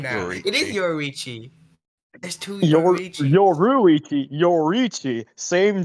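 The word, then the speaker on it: Yoriichi: I I I for I to pronounce his name now. It is Yorichi.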